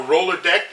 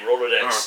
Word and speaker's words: Rolodex: Well, so let's I don't I my brain is I'm going through a roller deck. You know what a rolod deck is and we talk about this. Rolodex cuz there's multiple.